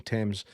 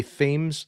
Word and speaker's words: Thames: I refuse to say Thames. That's how it's getting pronounced. That might be how he pronounces it because he's American. But you know, mate, your surname is Thames because that's fucking proper English, right?